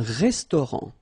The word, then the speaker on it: restaurant: Un restaurant. Final T not pronounced. Un restaurant.